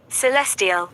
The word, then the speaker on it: celestial: in rare Celestial parade Celestial or Celestial let's see how to pronounce this word Celestial it's Celestial the first one is correct Mercury Mars Jupiter sat